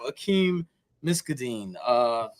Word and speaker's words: Akeem Miskdeen: But we have Akeem Miskdeen. Did I say that right? Did I pronounce Yeah, that?